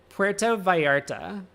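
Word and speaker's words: Vallarta: Puerto Varta. That's That's how you do it. The double L is a Y.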